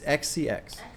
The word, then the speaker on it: xcx: really enjoy it is it supposed to be pronounced Charlie sex no it's XCX XCX XX that sounds like Charlie sex Charlie